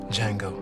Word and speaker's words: Django: Django. The D is silent.